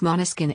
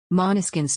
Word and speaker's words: Måneskin: word of that language and when the bassist pronounced monoskin everyone fell in love with the sound and